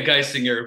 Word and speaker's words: Geisinger: Yeah, Geisinger, but I don't mispronunciations are they happen frequently with this name, so I'm good with whatever, honestly.